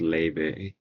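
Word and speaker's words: Laufey: I first found her I thought it was laf yeah Maia yeah but apparently the Scandinavian thing makes it so it's pronounced Le oh okay okay next you know know who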